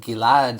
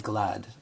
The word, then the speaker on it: Gilad: Like, Gilad is how you say it. And I would really just accept however way anybody said it, no matter how wrong they said it. I would say things like Glad.